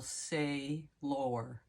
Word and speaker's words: Saylor: think of Archangel Michael but Michael say lore he doesn't spell it sailor like as in uh you know on a boat he spells it s a y l o r and may I add the E say lore he's telling us a